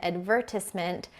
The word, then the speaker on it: advertisement: But yeah, a route is a root, an advertisement is an advertiss-ment.